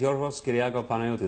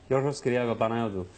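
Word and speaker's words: Georgios Kyriacos Panayiotou: My name is Yorgos Kyriakou Panayotou. That's really how it's said. It's wonderful. Yorgos Kyriakou Panayotou.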